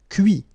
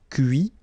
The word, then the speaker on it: cuit: Cuire, cuit. Détruire, détruit. Instruire, instruit. Okay, so you can notice that even if I put this final T, so as usual, I don't pronounce it. Okay, conduit, construit, cuit, détruit, instruit.